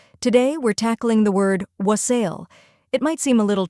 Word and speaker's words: wassail: First, we have wa, which sounds like wa in wander. Next is sul, which rhymes with hustle, or sail, which rhymes with pale. Both pronunciations are widely accepted.